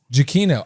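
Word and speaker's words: Giacchino: that no it's that it's uh it's jokino jokino actually so I'm actually happy to know that it's I I've pronounced it all manner of ways that accept that yeah yeah you know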